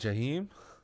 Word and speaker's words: Jaheim: if it wasn't for Nelly with Jaheim, is that how Oh you yeah, pronounce his Jaheim. name? Yeah, Yeah, yeah, Yeah. Jaheim.